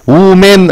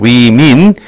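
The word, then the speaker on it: women: 나머지 사람들은 위 여성들이다 발음이 뭐라고 우맨 아니에요 민하고 합니다 위민 여성들 복수형이 뭐가 들어가야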